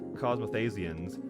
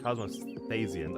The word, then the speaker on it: Cosmosians: I know the others are not cos cosmasians, but cosmosians. I believe that's how we pronounced it.